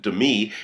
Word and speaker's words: Demi: Well, Demi, pronounces it Demi, she is divorcing Ashton Kutcher, her husband of 6 years, who is 16 years younger than she.